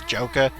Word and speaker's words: Joker: By the way, I still pronounce his name as Joka, just because it sounds better.